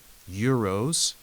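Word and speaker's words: γύρος: favorite Greek street food it's probably Euros as you'll see spelled with a gamma yeah so it's more of a more of like a y sound now right right and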